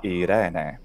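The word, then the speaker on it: Εἰρήνη: In classical Attic pronunciation, it's Irene. It starts in E, and that A closes to E. And that's how it's always transcribed in Latin.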